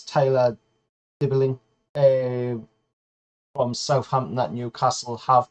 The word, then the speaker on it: Dibling: Newcastle's just, according to Football Insider, signed a 16-year-old kid for 6.5 grand, per week from Southampton, and he is called Tyler Tibbert, I believe it is, or I did put